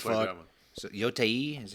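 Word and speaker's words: Yōtei: So Yotei is how you say it.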